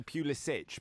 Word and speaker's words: Pulisic: So normally it would be Pulisic, but in his case, because of his background, it's Pulisic.